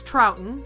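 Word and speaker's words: Troughton: shimmer magazine james ross trouten who gave me the very best pronunciation notes he says his name is pronounced the same way as the doctor who actor of the same name he's a writer of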